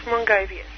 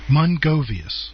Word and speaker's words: Mrongovius: The pronunciation, you've got to sort of hide the R, so it's Mrongovius. Mrongovius.